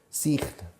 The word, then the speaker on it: sign: Hay un eje mudo en medio. Sign. Escrito, pero se pronuncia sign.